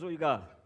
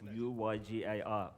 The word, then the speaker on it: Uygar: My name is Uygar. It's a difficult Turkish name. Most likely you won't even say it properly, but it's U-Y-G-A-R, Uygar.